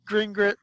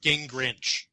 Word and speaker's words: Gingrich: a recent speech to a Christian congregation, Newt Gingrich I think it's pronounced Gingrich.